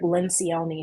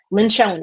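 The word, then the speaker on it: Lencioni: working genius by Patrick lenion his name his name is spelled wrong it's actually lyion lynon it's Italian so it's l n c i o n i the six types of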